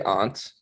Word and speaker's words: aunt: riri is probably easier don't say aunt no i say ant it is it is a wherever you're from noah they say aunt yeah it's like it's so mixed though i don't even